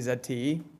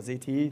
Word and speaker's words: ZTE: these fields is actually Zed T but ZT or ZTE depending on your pronunciation not nearly as successful